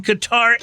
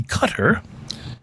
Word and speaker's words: Qatar: a passenger traveling on Qatar Airlines last week. And by the way, a more correct pronunciation would probably be Qatar.